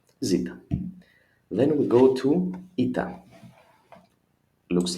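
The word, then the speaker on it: ήτα: Then we go to ita. Looks like an H, I know. The small maybe as an N. Still it is ita. E sound sounds like I in it.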